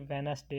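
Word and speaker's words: Wednesday: दिल्ली लिखा जाता है लेकिन यह डिश साइलेंट हो जाता है यह पढ़ा नहीं जाता इसलिए यह वेडनेसडे आएगा यह डियर दरमियां में नहीं पढ़ा जाएगा और लिखने में यह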